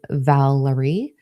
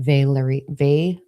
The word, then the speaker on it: Valari: So the councils that I was talking about, the ascendants of the Atlanteans, they are the Valerie, not Valerie, but Valari, oh my God, Valari.